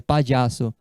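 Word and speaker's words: payaso: em espanhol palhaço palhaço a pronúncia pai de Aço quando és veia nele pai de Aço chorava tem criança que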